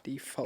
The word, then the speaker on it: Deefholts: it's spelled Deefholts. So Yeah, Deefholts, Default. not default.